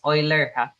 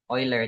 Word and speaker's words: Euler: So we pronounce this as Euler, Euler, not Euler. From the mathematician Euler.